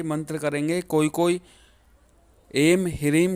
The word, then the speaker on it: ह्रीं: यदि आप इसे एंग ह्रींग क्लीम बोलते हैं तो ये गलत हो जाता है।